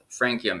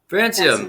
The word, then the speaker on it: Francium: special guests from uh frankium is that how you pronounce it frankium because i've heard francium and francium could someone help me with that not soon francium like the element yes exactly all right